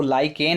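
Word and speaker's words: lichen: हैं, इसको लाइकेन है, जिसको मैं लेंचेस पढ़ रहा था, ये लाइकेन है। थोड़ा हिंदी में और इंग्लिश में थोड़ा वर्ड पे अगर जाएंगे प्रोनाउंसिएशन तो अलग ही हो जाता है, लाइकेन ही पढ़ें आप।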